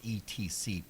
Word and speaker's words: etc.: end up abbreviated as ETC period, but pronounced etc. There is no X to be found anywhere.